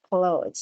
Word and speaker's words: clothes: yeah clothes all right do not forget correct pronunciation of this word is clothes so you want to